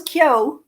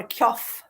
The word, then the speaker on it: Keogh: my book so um I chose K which that's how you pronounce it if I had realized that people would find it so hard to pronounce I would have used something else it's my mother's maiden name k so I do get various pronunciations of it which is sometimes quite amusing a lot of Americans called a cof things like that oh